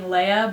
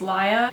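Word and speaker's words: Laia: So I've been saying Leia, but it's Laya, and instead of Elias, it's Elias.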